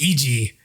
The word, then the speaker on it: Iijii: case it's a nightmare right um but it's pronounced eg uh but it seems like it's sticking people are starting to use it so so kyle is eg for sure yeah that's a weird one that's